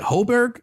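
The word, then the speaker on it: Højbjerg: But dude, Emil, is it Hoiberg? How you pronounce his name? Emil Hoiberg. Hoiberg. You're right, Ron. Hoiberg.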